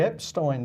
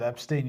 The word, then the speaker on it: Epstein: process it's interesting because I said Epstein you said abstain he said abstain okay